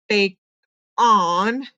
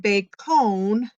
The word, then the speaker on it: bacon: I tried bake on and bacon, and both of them didn't sound right.